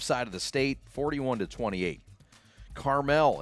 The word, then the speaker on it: Carmel: Carmel in Indiana, or Carmel, however you want to pronounce it, 39-0 over Detroit King.